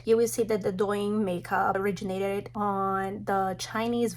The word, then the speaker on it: Douyin: Douyin.